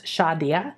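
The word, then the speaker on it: Xadia: have that now shadia X is pronounced uh in Maya so it's like an sh so it's shadia and she was a beautiful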